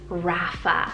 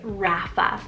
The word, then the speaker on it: Rafa: a feminine version of a boy's name is Rafa spell r-a-f-a Rapha so as you guys can hear that it